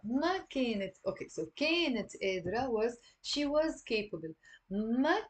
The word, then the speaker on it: قادرة: So notice here there is a قاف. So we're not gonna pronounce it قادرة or قادرة. I mean, some people in Lebanon, like the Druze, pronounce the qaf. But generally speaking, the majority of the people don't pronounce the qaf, and we pronounce it as a like that's why sometimes I represent it as a number two, the and قادرة means